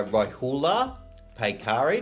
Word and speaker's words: Rohullah Paykari: Lucky today to be joined by Rohullah Paykari.